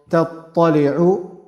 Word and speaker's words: تَطَّلِعُ: And the mistake that I also mentioned before, تَطَّلِعُ, ta is light, ta is heavy, same pronunciation, but lightness and heaviness, one is light, one is heavy.